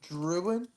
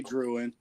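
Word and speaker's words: Drouin: Jude Druin. Oh yeah. I say Druin. I don't know how he says that. I think the N is silent. I think it's Druin. the French thing.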